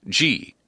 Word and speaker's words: Gee: make fun of because it rhymes with golly gee her name is Dolly M gee her last name is spelled g ee and she was appointed